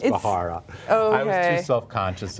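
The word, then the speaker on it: Bharara: It's Bahara. I know it's Bahara.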